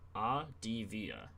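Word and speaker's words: Avdija: It's pronounced Advia. I'll just call him Denny, bro. Like Adivia.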